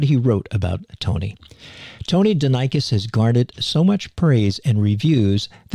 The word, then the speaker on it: Denikos: And it's not Tony Denikos, it's Tony Denikos, right, Tony? That's right. I said it wrong for so many years, and one day you came up and said, just to let you know, it's Denikos.